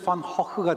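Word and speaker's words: Gogh: 반 고흐는 네덜란드 사람이고요 네덜란드식 발음으로 하면 제가 정확히 못한 호크가 되어 근데 그 바람이 너무 어려우니까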